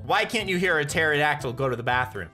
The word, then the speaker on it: pterodactyl: can't you hear a pterodactyl go to the bathroom because the p is silent that's the kind of